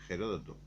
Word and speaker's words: Heródoto: Heródoto, que yo decía que tenía que llamarse Heródoto, pues se escribe con H, la H es aspirada en los griegos.